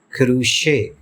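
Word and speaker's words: crochet: لفظ ہے اور فرانسیسی زبان میں اس کا تلفظ ہے کروشے۔ جی ناظرین، یقیناً آپ کو ہمارا آج کا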